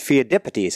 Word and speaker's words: Pheidippides: about who we call Pheidippides, and it's pronounced Pheidippides, I believe, in Greek.